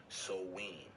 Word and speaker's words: Samhain: Some may disagree with that and say it starts earlier, but it's actually a Wiccan or witchcraft holiday called Samhain. It's actually pronounced Samhain, all right?